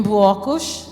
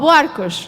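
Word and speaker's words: Buarcos: Festivals, Festivais, up all night toda a noite, in Buakush. Am I saying it right? In My what? town? Buakush? Buakush. boates. Where I live. Oh, Boarcos.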